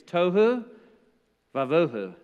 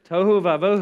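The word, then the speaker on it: תֹהוּ וָבֹהוּ: little phrase in Hebrew it rhymes it's brilliant it rhymes the phrase is Touhou Bravo it's good it's good Touhou Wabo who there's a Jewish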